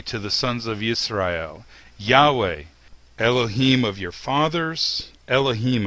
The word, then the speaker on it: יהוה: So, in my opinion, the pronunciation of the name Yod-He Vav-He is Yahweh.